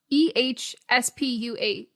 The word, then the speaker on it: aespa: EHSPUH. No, that's how they pronounce it.